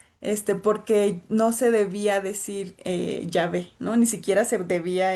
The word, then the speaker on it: Yahvé: Este, en Génesis 2, el nombre Elohim, porque también se le conoce así, se combina con un segundo nombre divino pronunciado Yahvé.